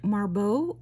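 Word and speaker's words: Marboux: right this one is signed marbeau I think that's how you say it it's um Marcel boucher's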